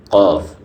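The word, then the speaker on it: ق: 4 নম্বর হচ্ছে জিহ্বার গোড়া তার বরাবর উপরের তালুর সঙ্গে লাগিয়ে কফ। কফ, আমার উচ্চারণটা খেয়াল করেন, কফ।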